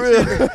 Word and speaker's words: Rel$: on the end yeah the dollar sign is silent you got a new